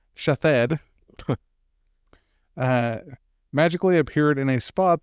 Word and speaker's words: Shithead: Pronounced Shathed.